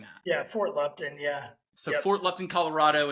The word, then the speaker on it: Fort Lupton: because is it Fort Lupton or am I mispronouncing that yeah Fort Lupton yeah so Fort Lupton Colorado and then man